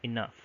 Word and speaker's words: enough: So probably before in Middle English they would pronounce it as enox or enoch, but now they would pronounce it as enough.